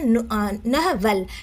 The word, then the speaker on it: novel: इसको प्रोनाउंस कैसे करेंगे, नहवेल। Stress on the first slab ends with well.